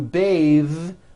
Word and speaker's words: bathe: it's voiced smooth bathe the word bath is a noun with an unvoiced th Beth but when you change it into a verb to bathe the vowel changes to an a sound and the th is voiced bathe like in bathing